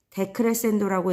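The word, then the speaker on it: decrescendo: 그 아래에 자, F만 되어 있는 이 기호는 포르테라고 읽고 뜻은 세게입니다. 자, 앞에서는 점점 벌어졌지만 이제 점점 오므라드는 이 모양은 데크레센도라고 읽고요.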